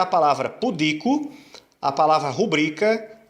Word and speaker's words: rubrica: Rubrica não é rúbrica, é rubrica. É também uma paroxítona. A sílaba tônica é o bri.